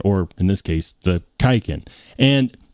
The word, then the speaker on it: Kaiken: you're wondering what is kiken what what is kiken well kiken is is the modernday spelling and pronunciation of the word Quin or quiken and it refers to